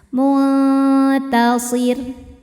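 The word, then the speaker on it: منتصر: Saat berhenti di ro, ro-nya disukunkan, dibaca secara tarqiq. Kenapa? Karena sebelum ro disukunkan ada baris kasrah, maka ro-nya tipis. Mutasir.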